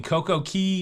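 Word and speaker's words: CocoCay: Coco Key, not K. And the way it's marketed by Royal Caribbean is a perfect day at Coco K. It rhymes.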